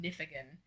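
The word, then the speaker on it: Nifegun: use a website called i think it's pronounced nifigan it's n-i-f-e-g-u-n dot-com and i'll link it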